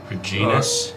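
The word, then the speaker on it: Regnis: how it's pronounced but r e g n i s genus it would or the the the G would be silent cuz it's the GN like kind of like gnome so it would be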